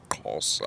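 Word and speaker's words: Xhosa: S A and uh the way you pronounce it is with a click of a tongue closer.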